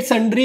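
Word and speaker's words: sundry: कर दिया उसने paid स्री expenses in cash देखो इसको रीड करते हैं स्री ठीक है स्री बोलते हैं इसको प्रोनाउंस करेंगे तो संरी बोलेंगे और स्री एक्सपेंसेस मतलब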